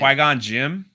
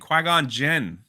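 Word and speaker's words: Qui-Gon Jinn: his name right now say qui-gon say his name qui-gon jim jin jin that's what i said you're saying jim i don't know that's my accent qui-gon jin cause cause star wars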